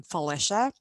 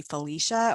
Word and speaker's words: Felicia: indian half polish and the name comes from the polish side of the family which kind of surprises